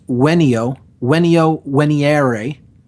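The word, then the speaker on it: venio: from the Latin verb there's really not a V sound in classical Latin it's pronounced with a W so it's ven io is the verb and it's pronounced when yo when yo when ER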